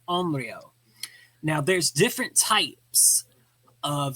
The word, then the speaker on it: onryō: usually what are called onreo. Now there's different types of ureo. Onreo it would be spelled o n r y o. So on rio.